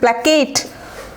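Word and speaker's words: placate: প্ল্যাকেট, PLACAT, প্ল্যাকেট।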